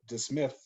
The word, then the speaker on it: DeSmith: I thought his name was just Smith, and I thought you were pronouncing it wrong when you're saying DeSmith. I thought there was something wrong there, but that's his freaking last name is DeSmith.